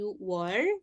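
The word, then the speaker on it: 유월: Di sini you were Juni itu bukan yuk, tapi you were ya.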